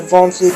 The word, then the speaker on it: Von Flue: Ovin Saintru, and the Von Flue choke. I really love that choke now. You can type it. It's spelled VONFLUE. Von Flue. VON, and then just imagine spelling without the T.